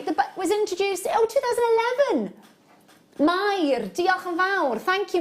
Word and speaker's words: Mair: Yeah, it's a lovely name, Mair. You've got to be able to roll your R's when you say Mair.